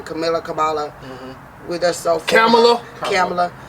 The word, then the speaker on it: Kamala: Like my family is so for this Camilla. I say her name wrong. Kamala.